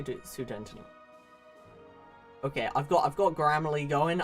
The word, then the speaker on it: Sudetenland: Sudetenland pronunciation. 1 second. Let's just say Sudetenland.